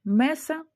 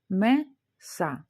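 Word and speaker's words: mesa: Значить, в слові меса у нас два склади: меса. Останній склад у нас са. Слово закінчується наголосну. Наголос буде падати на передостанній склад.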